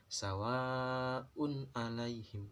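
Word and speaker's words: سَوَاءٌ عَلَيْهِمْ: Maka dibacanya sawa'un alaihim, bukan samar tapi jelas, sawa'un alaihim.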